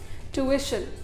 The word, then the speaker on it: tuition: इसमें ये जो TUI के बाद वाला आई होता है ना, यू के बाद वाला, इसको ज़रूर प्रोनाउंस करें। हम इसको प्रोनाउंस नहीं करते हैं, इसलिए हम ट्यूशन बोल देते हैं। आपको क्या बोलना चाहिए? ट्यूशन या फिर ट्यूशन। ये ई का साउंड आना इम्पॉर्टेंट है।